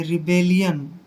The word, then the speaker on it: rebellion: आर का उच्चारण रे करते हैं, ई को ई की मात्रा पढ़ते हैं, और बी को हमने बै पढ़ना है, ए को ए की मात्रा पढ़ते हैं। डबल एल का उच्चारण ले करेंगे, आई ओ एन को यन पढ़ेंगे, रिबेलियन। दोस्तों रिबेलियन का मतलब होता